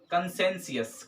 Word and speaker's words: conscientious: ठीक है, और उसके बाद से फिर हमारे पास जो है जो छठा वर्ड जो है, ठीक है ना, कंसेंसियस। क्या पढ़ेंगे इसे हम, कंसेंसियस।